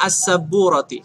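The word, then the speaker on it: السبورة: Dibacanya as-saburati. Kenapa? Karena menjelaskan bahwasanya papan tulis ini ya, as-saburah, papan tulis ini itu ada di dalam kelas. Jadi dibacanya as-saburati.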